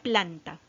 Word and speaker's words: planta: con la última y vamos a separar en sílabas que se llama planta plan ah bien ahora buscamos buscamos a quien